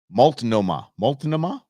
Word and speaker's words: Multnomah: We're gonna pronounce it here. It's Multnomah.